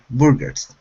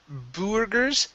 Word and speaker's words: burgers: last word instead of burgers it's bur okay so the er and the you are make the same sound in this word so it's burgers burgers